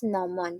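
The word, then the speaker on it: gnomon: So that's how it pronounce nomon.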